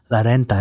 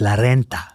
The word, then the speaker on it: renta: she taught me that it's not la renta, it's la renta. You know, that you have to roll your R and you have to get it right and you have to put in the work.